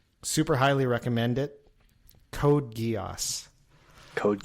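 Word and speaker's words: Geass: wrecked me emotionally and that was uh Code Guos.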